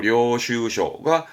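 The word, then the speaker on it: 領収書: 발음은 료슈셔. 시험적으로는 이제 다이토료, 요료, 료슈쇼가 가장 많이 보였던 부분입니다.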